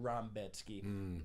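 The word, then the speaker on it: Rębecki: It says Rebecki. They pronounce it Rambetsky.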